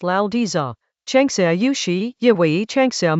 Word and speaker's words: Laozi: The original text, in pinyin — Laozi (pronounced "Lao-dzuh"): Tiānxià yǒu shǐ, yǐwéi tiānxià mǔ.